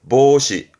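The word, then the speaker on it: 防止: 발음은 보시, 보시.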